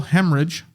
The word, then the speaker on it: hemorrhage: He died of a cerebral hemorrhage. That H is pronounced there.